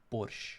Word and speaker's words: borscht: actually, I would say, I don't know why they added T at the end, because in our pronunciation it's just like borscht, you know, without T at the end.